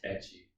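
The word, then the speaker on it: ecchi: I know what Ichi is. Yeah. Okay. It's pronounced etchy.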